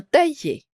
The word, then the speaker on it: taillés: bien ça taill d'accord le S ne se prononce pas on va lire toute